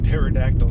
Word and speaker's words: pterodactyl: It's not pterodactyl apparently. It's silent S P. Why have the P there? You don't need it.